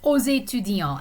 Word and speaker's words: aux étudiants: So, aux étudiants. And the X is pronounced in this case because étudiant begins with a vowel sound.